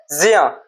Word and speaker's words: ज्ञ: ये ज्ञा नहीं हो रहा है, यदि ठीक से इसका उच्चारण किया जाए तो इसका ज्या होता है, ज्या, क्योंकि इसका उच्चारण ये किससे मिलकर बना हुआ है, जा प्लस अइया, या इससे बना है, ये आधा जा प्लस आ।